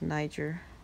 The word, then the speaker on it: Niger: very bad words and i was like it's pronounced niger he's like oh okay this is interesting interesting